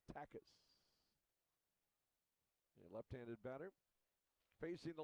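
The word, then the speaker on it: Takacs: T-A-K-A-C-S, pronounced Takis.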